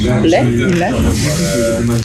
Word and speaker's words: lait: And then he was like, lait.